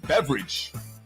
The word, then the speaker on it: Beveridge: by the name of Dr Andrew Beveridge not spelled like the drink beverage but sounds like beverage who is the guy